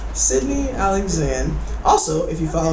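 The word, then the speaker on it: Cydnee: meet you how's everyone doing my name is Sydney alexand I'm gonna spell it for you it's really easy it's not okay c y d n e e space Sydney Alexander also if you follow me on IG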